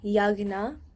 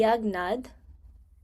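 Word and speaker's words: यज्ञ: A G N A Yagna. So that's how you would pronounce it. Like you don't pronounce the J. It would make more of like a G sound. So it would be Yagnad.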